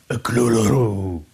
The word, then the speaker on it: Cthulhu: Le problème, c'est que d'un coup sur l'autre, Lovecraft donnait une prononciation différente. Par exemple, dans une lettre, il explique que ça pourrait vaguement ressembler à Cloloro ou quelque chose du genre. Mais il précise que de toute façon, ce nom n'est pas supposé être prononçable par des cordes vocales humaines.